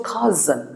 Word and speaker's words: cousin: It's still cousin and it's pronounced k. The O is silent, so it becomes cousin. And the S sounds like a Z, a cousin.